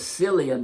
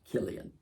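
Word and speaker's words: Cillian: done one thing it's taught the world how to pronounce c l i a cuz I was silly and Murphy for a long time when he was doing the Batman movies I was like and silly and Murphy was in there and then up and H came along and everybody you know learned to pronounce Killian but I want to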